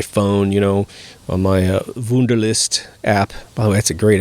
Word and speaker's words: Wunderlist: you know on my wunderlist app wow that's a great app it's spelled like the German wonder W u nder list it's great little app